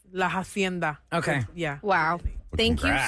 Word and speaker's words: La Hacienda: Laenda, because in Spanish, you know, you skip through that H, right? Yeah. But it's when you spell it out, you're spelling out the word hienda for your Instagram. In Spanish, Lai, people will know it's with an H, but it is Laenda.